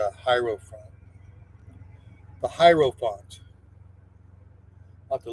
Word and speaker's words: hierophant: Hero or I guess you pronounce it hierophant.